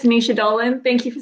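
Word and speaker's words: Naoise Dolan: It's Nisha Dolan.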